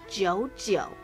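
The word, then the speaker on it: 九九: auspicious holiday is because double nine is also pronounced the same as the word to signify forever. They're both pronounced jiu jiu. 99 jiu jiu. Forever jiu jiu.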